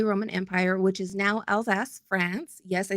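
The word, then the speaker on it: Alsace: of the Holy Roman Empire which is now Elsas France yes I said Al's ass it's really how it's pronounced okay had a six day continuous dance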